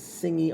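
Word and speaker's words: Tsingy: My name is Singi, and that's it. Singi is spelled T-S like me, I-N-G-Y.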